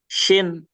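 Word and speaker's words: شين: Kalau di bahasa Indonesia kita mungkin menulisnya SY ya. Jadi sh gitu. Dan dia cenderung senyum. Pelafalan shin itu. Sha, shi, shu. Jadi jangan monyong ya.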